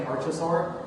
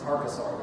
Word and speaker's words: archosaur: I keep saying archosaur, but it's archosaur, which makes complete sense because of the word root.